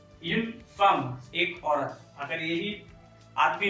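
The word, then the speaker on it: femme: तो जैसे कि एक औरत यून फार्म, यून फार्म, यून एफ ई एम एम ई, यून फार्म एक औरत।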